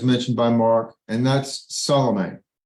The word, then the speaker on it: Salome: We say Salome. And so Salome or Salome, whichever you prefer, it doesn't matter. In English, we mispronounce everything anyway, so it hardly matters. But Salome, I think, is closer to correct.